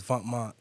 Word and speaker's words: Vêtements: This is when Vêtements, Venoments, for those that don't know, but it's Vêtements, pronounced clothing in French.